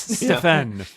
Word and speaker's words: Stefan: Really annoyed when people don't pronounce it right. It's Stefan.